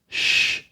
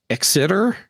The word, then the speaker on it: Xitter: And I pronounce that as shh. I thought you were going to pronounce it either Exeter or Zitter. Nope, it's definitely a shh. Itter kind of situation.